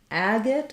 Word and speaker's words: agate: I use typically um Agate I think is first syllable stress with the a vowel and agnate agnate or